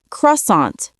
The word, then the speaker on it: croissant: Daniel pronounced it perfectly according to his textbook caant, but the cashier didn't understand until another customer said croissant the way Americans actually say it.